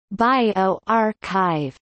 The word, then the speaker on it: bioRxiv: bjorkiv pronounced bio archive is an open access preprint repository for the biological sciences co-founded by john inglis and richard sever in november 2013.